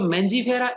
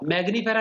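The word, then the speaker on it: Mangifera: Mango, ये है बच्चों मैंजीफेरा इंडिका, मैग्नीफेरा लिखते हैं कई बच्चे, गलत है, मैंजीफेरा इंडिका।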